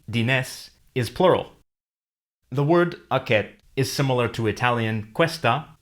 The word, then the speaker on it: aquest: The word aquest is similar to Italian questa or Spanish and Portuguese esta, but notice that the S and T are pronounced differently. The S is silent and the T is not released.